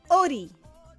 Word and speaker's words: ʻori: This apostrophe is called eta in Tahitian, and the eta is actually a consonant in the Tahitian alphabet. It is called the glottal occlusive.